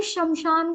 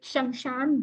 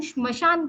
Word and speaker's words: श्मशान: क्या कहा शिव जी ने कि क्यों श्मशान को लोग इतना अप पहली बात तो शमशान गलत उच्चारण है। हम श्मशान कहते हैं। शुद्ध उच्चारण में शुद्ध हिंदी में श्मशान कहा जाता है।